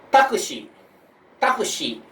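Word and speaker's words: タクシー: Jadi kado itu kartu, takushi, takushi I-nya dipanjangin jadi taksi, supa, supa pasar swalayan, tape, kaset tape, dan noto atau buku harian.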